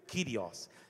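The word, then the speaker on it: κύριος: chave ele disse Senhor a palavra senhor no Grego é kirios escrito curios mas pronuncia-se no grego kirios quer dizer dono da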